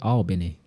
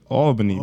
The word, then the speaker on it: Albany: How do you say Albany? Nigga, Albany, bro. Albany. What are you talking? So it's not Albany? Nah, bro. You be pronounced. Albany. Nah, that's I kind of say Albany without the L, Albany.